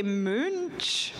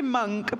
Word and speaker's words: Munch: pronounced I feel like in America you say Moon sh or monk I say monk but it's Edward Munch like the scream yes yeah like yeah